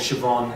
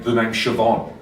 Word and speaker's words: Siobhan: girlfriend's phone, saw messages from somebody called Siobhan, assumed it was a guy named Sayo Bohan, and confronted her angrily about it.